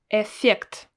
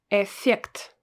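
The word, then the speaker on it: эффект: notice as well that i don't really say this i don't pronounce it twice i don't say f effect well no we don't speak like this it mostly sounds like a one letter f but pronounced really long so effect do you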